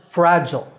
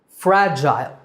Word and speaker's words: fragile: you pronounce the word in American English it's pronounced fragile fragil fragile in British English the second syllable is Gile fragile so American fragile and British fragile next up is determine this is not determined